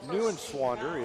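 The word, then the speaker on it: Neuenswander: swander so 6-1 senior new and swander is n-e-u-e-n -s-w-a-n-d-e-r it's like it's just like it's spelled sounds just like it's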